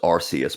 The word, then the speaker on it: Arceus: Originally, the original pronunciation was Arceus, but they changed it because of in the UK the word arse. They didn't want it to have that same sound in there, so they changed it phonetically to become Arceus, so that people don't have that word in there.